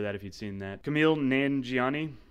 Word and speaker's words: Kumail Nanjiani: Kumail Nanjiani. Is that how you say it? No. Kumail. Yeah, Kumail Nanjiani, I believe. Yeah, that's right.